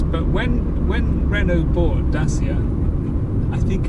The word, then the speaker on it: Dacia: when when renault bought dasia i think it's i think it's pronounced i think the proper pronunciation is dacha uh but i'm going